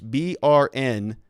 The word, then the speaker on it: Brnovich: Before I say that, he actually spells his name Mark Brnovich. It's Brnvich. Okay, Brn. That's how you pronounce burn, right?